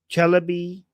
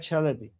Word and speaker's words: Chalabi: Oh, Chelaby who betrayed the US is a reason many Americans are gunshy. Wait, did you mispronounce them? Oh, Ahmed Chalabi.